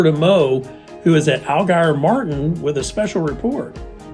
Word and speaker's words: Allgeier: So our name is Allgeier Martin and Associates. So I think of the fish, the ugly fish, like in Spring River, the prehistoric looking gar.